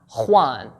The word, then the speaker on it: Juan: The letter J in Spanish is pronounced as kha, like the name James, James, or Juan, Juan.